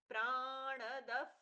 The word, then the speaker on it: प्राणद: प जैसा प्रच्छा हुआ प्राणदः ण का पूर्ण उच्चारण प्राणद प्राणो प्राणो दीर्घ जियेष्ठ